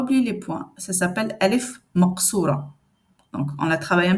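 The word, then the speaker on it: ألف مقصورة: Ça s'appelle alif maqsoura. Donc, on la travaille un petit peu après. Je ne vais pas vous l'expliquer maintenant. On la prononce comme si c'est alif.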